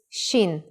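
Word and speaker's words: שין: Shin is pronounced sh when the dot is on the upper right side.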